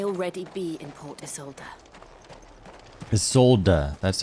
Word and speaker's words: Isolde: Isolde, that's how you say it.